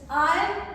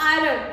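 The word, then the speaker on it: iron: fourth example is आयन इट्स आयन आर E silent so यू आर not going to pronounce like आयरन इट्स नॉट आयरन इट्स आयन इट्स आयन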